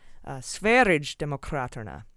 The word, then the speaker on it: Sverigedemokraterna: out I was close, but it's a soft G, like GIF. It's not GIF, it's GIF. And that makes it Sverigedemokraterna.